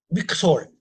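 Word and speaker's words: מכשול: 미, 믹솔. 요거 이제 발음 안 하니까 믹솔 이렇게 돼요. 믹솔 이렇게 돼요. 천천히 발음은 미크솔 이렇게 하면 되고요. 빨리 하면 믹솔, 믹솔.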